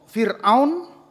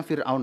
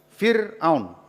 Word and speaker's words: Fir'aun: Nah, waktu itu Fir'aun, ini membacanya Fir'aun ya. Jadi kalau ini untuk lektor ya, kalau membaca ini Fir'aun. Jadi jangan Firaun ya apalagi Firsha gitu ya salah. Fir'aun.